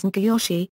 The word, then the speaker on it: Nagayoshi: Though the kanji characters are pronounced in Japanese as Ngyoshi, by convention the Chinese pronunciation of Kogi is used for this smith, and a handful of others.